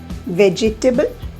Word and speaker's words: vegetable: The E after G is silent. You can understand it from the difference in number of syllables also. When you pronounce it as vegetable, it has got vegetable, 4 syllables. But when you pronounce it correctly, it has got only 3, vegetable. Okay, so you have just 3 syllables in that and it's pronounced as vegetable.